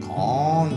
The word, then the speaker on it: Cannes: Well, we got information from a subscriber saying the S is silent, so thanks very much for that. We had no idea. But is it can? Is it con? Is it cans? Cans? It sounds like it's con. C-O-N, con.